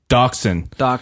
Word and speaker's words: Dachshund: Dachshund.